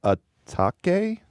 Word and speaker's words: Atake: It's called Eternal Atake. You fact check me on that, Ian? You know how this is pronounced? A take.